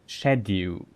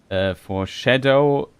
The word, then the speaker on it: Scadu: I think it's maybe pronounced shadow, like shadow.